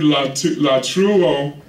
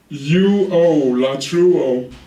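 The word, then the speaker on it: latreuo: The Greek word for worship is the word latruo. It's a Greek word. It's spelled L-A-T-R-E-U-O, latruo.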